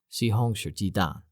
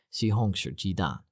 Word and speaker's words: 西红柿鸡蛋: 西红柿鸡蛋. Yeah, that's it. 西红柿鸡蛋, which means tomato egg.